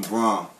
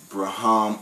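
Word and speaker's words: Brahame: name is um Braum. That's Braum. B R A H A M E. Not Brahham or Brai.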